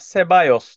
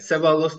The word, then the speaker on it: Ceballos: Ceballos deyip geçmek Çok hani bir doğru. Hiç yabancı için sakıncası yok. Hiç sakıncası. problemsiz bir Sebalos telaffuz. demesin yeter yani. Sebalos derse ayıp.